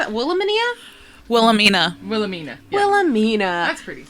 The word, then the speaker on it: Wilhelmina: Wilhelmina.